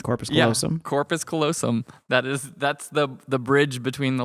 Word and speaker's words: corpus callosum: Yeah, corpus callosum.